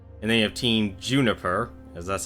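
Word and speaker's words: JNPR: There's Team RWBY, which is Ruby, Weiss, Blake, Yang, and then you have Team Juniper, as that's how you pronounce it apparently, with Jean, Nora, Pyrrha, and Ren.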